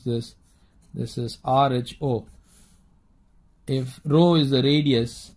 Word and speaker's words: rho: rho is the radius, now how do you pronounce this? This is rho.